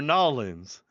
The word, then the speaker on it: New Orleans: anyway Monty says they're Nolans welcome to New Orleans uh as Marty has taught us everybody in New Orleans does pronounce it Nolan's so all right all